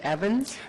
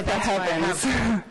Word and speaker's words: Heavens: weren't sure the spelling, is it is it Evans? No, it's with an H. Okay. Evans.